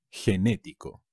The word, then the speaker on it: genético: y ser generoso genetics genético con un acento en la segunda genético enormes gigante y